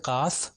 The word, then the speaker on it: قاف: تو یہ قاف جو دو نقطے والا ہے یہ تھوڑا موٹا پڑھا جاتا ہے، تو اس لیے میں تلفظ ابھی کر رہا ہوں تاکہ ڈفرینشیٹ صحیح طریقے سے ہو سکے.